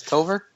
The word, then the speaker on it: Tovar: wrong toar tover no you actually got it right man it's tover toar toar toar okay